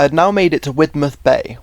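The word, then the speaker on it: Widemouth Bay: I had now made it to Widmouth Bay, which like a lot of Cornish places isn't pronounced how it's spelled.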